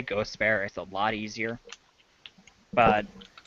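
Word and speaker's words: Gostisbehere: oh okay yeah uh gospel is how you say his name Augustus there yeah but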